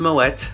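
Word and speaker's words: Moët: champagne, so you get a complimentary bottle of Moet champagne, and yes, it is pronounced Moet, Google it.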